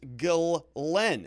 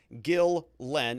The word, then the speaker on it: Ghislaine: she's english and so there is an english pronunciation which is gill len as you can see here g-i-l-l-l-e-n so gil len and then we have delay glenn's brother ian says it glenn so like galon you can hear his